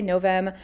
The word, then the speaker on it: novem: I say noem, some people say novem. But when I took Latin in high school, they made us pronounce every V with a W, so that is just the way that I learned.